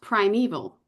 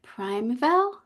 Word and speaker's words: Primeval: Uh, is pronounced primeval, correct?